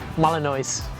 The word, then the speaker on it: Malinois: Malinois? Malinois.